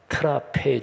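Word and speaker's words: τράπεζα: 적대 그게 헬러 에서 식탁 이라는 단어가 트라페제 줘 라고 발음하는 데 그 식탁의 섬김 원어를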